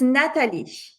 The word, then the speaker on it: Nathalie: Yeah Natal she is going to she's going to answer all your question. I hope I'm pronouncing your name properly. Yeah. How do you pronounce your name? It's Natalish. Natal.